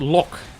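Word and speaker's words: loch: i could do it look i said as a lock but the scottish one that that's not pronounced as look right it's not with a heart gay at the end i mean or maybe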